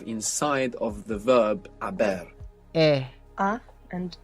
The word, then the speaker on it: he: It's spelled H-E. And of course, we have the silent H there from haber in Aber.